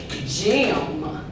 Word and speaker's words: gym: This word is gym. E-M together says M. Gym. Gym. The letter G makes the J sound.